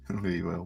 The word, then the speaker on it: Louisville: Louisville.